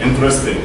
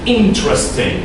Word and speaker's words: interesting: It's going to be interesting like that. No, that's wrong. It's interesting. That's the right way.